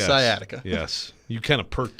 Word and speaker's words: sciatica: coming after me about saying uh skiatika and not properly pronouncing sciatica hey dummy it's sciatica duh come on robbie gosh